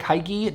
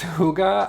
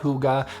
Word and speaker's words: hygge: and it's called hygge it looks like haiki don't make that mistake it's hygge i think um and